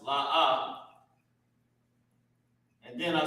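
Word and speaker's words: לא: And it's pronounced La'a.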